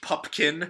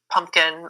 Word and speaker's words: Pupkin: with Scorsese as Rupert Pupkin yeah the often mispronounced war yes or Rupert pumpkin or pickin or Popkin or whatever Hopkins and another possibly another